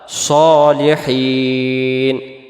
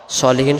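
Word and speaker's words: صالحين: আলাইনা ওয়ালা ওয়ালা মানে উপরে ইবাদিল্লাহিস আল্লাহর বান্দার সালেহীন নেককার বা সৎ সলিহীন শব্দের অর্থ হলো নেককার বা সৎ তাহলে এটাকে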